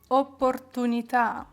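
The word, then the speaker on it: opportunità: буде Лиза з апострофом Зверніть увагу що кожний італійське слово яке має в кінці ось такий наголос бачите він не просто так це він вам підказує куди наголос на яку букву в цьому слові тому вони там опортуні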